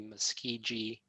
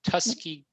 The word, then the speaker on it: Tuskegee: his father's funeral that his father was a Tuskegee Airman. Or, I'm sorry, I'm mispronouncing it. Tuskegee Airman.